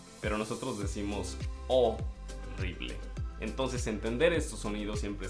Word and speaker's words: horrible: Es decir, la H no existe. Y después decimos ELE, significa ble. O sea, decimos horrible. Cambia completamente. Tal vez tú dijiste horrible, pero nosotros decimos horrible.